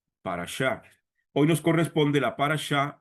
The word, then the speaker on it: parashá: Individualmente se pronuncia parchá.